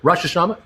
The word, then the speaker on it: Rosh Hashanah: Oh, is that Rosh Hashanah? How do you pronounce it? Rosh Hashanah.